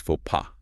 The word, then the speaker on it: faux pas: The common pronunciation is faux pas. Faux pas.